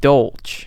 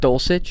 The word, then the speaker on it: Dulcich: Greg Dolch. Wait, what? Dulcich? Yeah, why did I say it like that? Dolch.